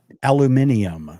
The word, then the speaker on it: aluminium: Aluminium. That's how they pronounce it in Australia.